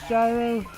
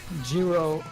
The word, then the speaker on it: Jiro: Which one's Gyro? Jiro, it's pronounced Oh, Jiro.